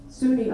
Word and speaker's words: SUNY: studied at sunny oswego what pronounced suny oswego in oswego new york